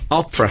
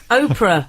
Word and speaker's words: Oprah: it's good that so Opera what Opera Winfrey Oprah Winfrey darling Oprah Opera Winfrey went into you can't just go around Amic pronunciation pretending to be American Wily no no but that's an americ they call Opera don't they yeah they